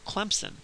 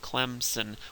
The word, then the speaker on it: Clemson: If you say it like a good Southerner and you say Clemson, you put a P in there, and there's no P in the word if you look at it. Sometimes people from up north will pronounce it Clemson with a Z, and there's also no Z in there.